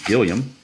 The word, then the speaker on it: Gilliam: And now we're back to the top of the order in Jim Gilliam. Or Gillum. I think it's pronounced Gilliam. I'm not sure.